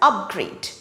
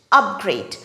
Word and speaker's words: upgrade: it is pronounced as upgrade upgrade the stress is on the first syllable up for example the customers